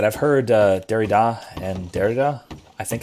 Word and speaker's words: Derrida: two ways i've heard derrida and derida most scholars i know pronounce it derrida with the emphasis on the first syllable uh i believe that's